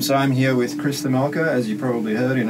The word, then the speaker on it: Themelco: It's just Themelco.